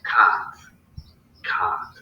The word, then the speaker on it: Kant: And what the first thing Kant says is that, and you're supposed to say Kant, like in the way that the British say can't.